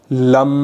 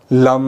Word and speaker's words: लम: और बीज मंत्र लम का उच्चारण करना है। कुछ इस तरीके से लम लम कुछ इस तरीके से बीज मंत्र लम का उच्चारण आपको निरंतर करना है।